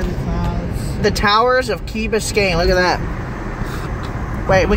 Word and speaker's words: Key Biscayne: Key Biscayne.